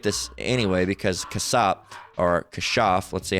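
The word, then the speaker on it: כָּשַׁף: But we'll get this anyway because kasap, or kashaf, let's see, how does it pronounced? Strong's H, 3784. Kashaf. Kashaf. Right, they say kashaf.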